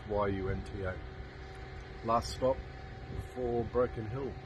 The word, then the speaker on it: Yunta: Here we are at Yunta. I think that's how it's pronounced, Y-U-N-T-A.